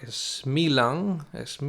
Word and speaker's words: Smiljan: Pues bien, nos ponemos en contexto geográfico e histórico y nos vamos hasta Smilan, que se pronuncia así, pero se escribe Smiljan, que es un pequeño